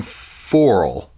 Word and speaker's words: Foral: This comes from Foral. I think that's how you pronounce it. It's F-O-R-A-L.